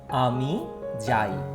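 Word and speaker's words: আমি যাই: How I pronounce? Ami Jai.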